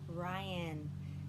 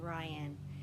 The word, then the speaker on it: Ryan: gonna play a game my name rhymes with lion lion but it starts with an r my name is mrs ryan rhymes with lion my name is mrs ryan and i have about